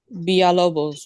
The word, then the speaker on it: Balobos: Balobos with a B. Balobos.